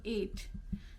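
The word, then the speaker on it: eight: Okay, IGHT, and you have to use this here GHT for 8. Night. So what is here? GH. GH is silent.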